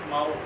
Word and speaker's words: MSAU: का ये डिवाइस है, इस डिवाइस का नाम है माऊ, ये डिवाइस का नाम है माऊ। माऊ किसने बनाया है, MSAU, एस साइलेंट है, मल्टी स्टेशन एक्सेस यूनिट।